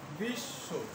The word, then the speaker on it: বিশ্ববিদ্যালয়: একইভাবে আমাদের আরও আছে, যেমন বিশ্ববিদ্যালয়, তালবস্যর নিচে একটি ব ফলা আছে, বিশ্ব, বিশ্ব, বিশ্ব, উচ্চারণটা হবে বিশ্ব। এখানে একটি ব আছে, কিন্তু ব এর উচ্চারণ হবে না, ব এর উচ্চারণটা হবে না।